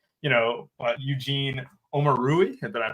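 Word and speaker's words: Eugene Omoruyi: They're in that like 4K range, like, you know, Eugene Omarui. Did I pronounce that right?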